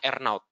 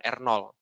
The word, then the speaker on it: R0: number atau er now Jadi ini bacanya ernot bukan r0 sebagian sebagian keliru mejanya jadi ini bacanya FDR now